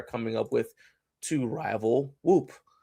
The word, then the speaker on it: Whoop: that they are coming up with to rival Whoop. Right. I don't even know how you say. Is it Whoop? It's Whoop.